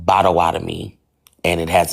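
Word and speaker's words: Potawatomi: That's when I found out I was Pawatami pronounced bawadami and it has its own alphabet.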